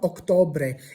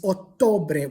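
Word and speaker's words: ottobre: So the word for october is not octore. It's otore with a double t, but you have to pronounce the double t.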